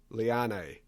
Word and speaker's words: Liane: So I asked her how she pronounced her name, and she said Liane.